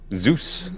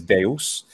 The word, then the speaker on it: Zeus: one of course so in English you say that Zeus Zeus Zeus and of course in Italian we say Zeus Zeus now what happens in um in ancient Greek pronunciation there well the oldest standardized for the pronunciation would be that classical attic one that most people are interested in is Deus so the the letter